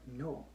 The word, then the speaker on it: know: just said you know like the word no why why is there a silent k to begin a word like that see i don't want